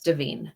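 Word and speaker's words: Da'Vine: said her name wrong it's deine not Divine oh deine okay it's davine um and uh she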